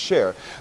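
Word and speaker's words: Csheir: And you've also incorporated a recipe book as well, which is called Share, C-S-H-E-I-R, pronounced Share.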